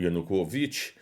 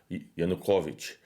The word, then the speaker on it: Yanukovych: do presidente, né, antes de Maidan, né, o Yanukovych, eu pronunciei errado, Yanukovych, né, então ele foi ministro do Viktor Yanukovych e ele é pró-russo, então é o Yuri Boiko.